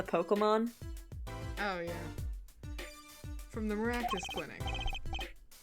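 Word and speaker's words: Meraktis: already forgot I am pretty sure it's maractus maractus like malpractice with cactus yeah yeah hey is that the pun maybe I don't know but that's what I'm going to remember it mirus rhymes with malpractice what is this maractus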